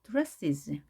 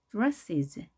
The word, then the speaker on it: dresses: 강세는 당연히 앞에 이에 있겠습니다. dresses, dresses. 자, is 발음을 약하게 이런 느낌이 나게 발음하시면 되겠습니다.